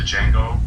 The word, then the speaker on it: Django: It's Django Unchained, but it's spelled D Django, like it's the Django or whatever. A normal person would be like Django, but he's like the D silent, so it's just Django Unchained, and he's like a slave or whatever.